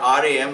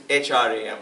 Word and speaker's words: Hram: So it is not RAM, it's HRAM if you want to spell it in English.